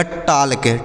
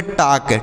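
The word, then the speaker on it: talk: फिर क्या पढ़ेंगे सर यहां पर जो एल है यह साइलेंट है इसे नहीं पढ़ा जाएगा तो इसे पढ़ेंगे टक टी ए एल के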